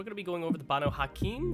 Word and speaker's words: Banu Haqim: be going over the bono hakeem hopefully i'm pronouncing that right at least that's how it is shown to be pronounced on no white wolf wikipedia so we're going